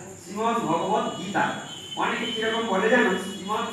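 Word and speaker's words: শ্রীমদ্ভগবদ্গীতা: বলো আর না বলো শ্রীমদ ভগবত গীতা, কোনটাই বলো না, শ্রীমদ ভাগবত গীতা হয় না, শ্রীমদ ভগবত গীতা উচ্চারণ আগে দেখুন, শ্রীমদ ভগবত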